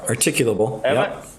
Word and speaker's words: articulable: they don't have an articulable I'm not pronouncing that word right yes you are articulable oh okay you got it suspicion that a crime